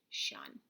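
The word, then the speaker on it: -tion: And hopefully you came up with T-I-O-N, shun.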